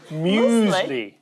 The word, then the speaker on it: muesli: Muesli. No, it's muesli.